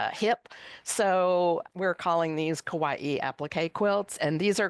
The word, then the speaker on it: Kawaii: Now, do you pronounce this as, it looks like it rhymes with Yeah. Hawaii. Yeah, yeah. So this is a preview copy that just came out. And so it's Kawaii, applique quilts from Japan.